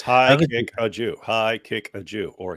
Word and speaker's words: Haqiqatjou: no look at let's let's see how it's pronounced I'm your host it's high kick a Jew high kick a Jew or he'll kick a Jew those are the correct pronunciations reminds me of